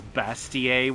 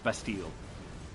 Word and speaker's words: Bastille: for still a steal i heard someone pronounce that as bastier one time and that is so big like i'm wrong that is some big like by what standard but yes i'm pretty sure it's bastille all right you now